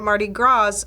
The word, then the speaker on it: Mardi Gras: I keep calling it Mardi Gras, and when I was doing the script, I had to write GRAW so I would pronounce it right.